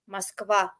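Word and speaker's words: Москва: How's it pronounced really? Moskva. Moskva.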